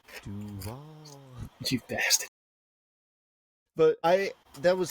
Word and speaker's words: Duval: You didn't pronounce it right. It's Duval.